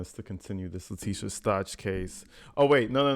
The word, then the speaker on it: Stauch: no no no okay somebody in the comments had told me they losing their mind because I'm saying this lady's name wrong it's latisa Stout I think that's how you say it Stout it's a weird ass